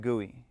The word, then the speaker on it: GUI: And we do pronounce that GUI.